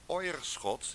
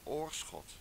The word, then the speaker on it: Oirschot: dit is dat in brabant heet niet ooijer schot die heet oirschot en je bedoelt oisterwijck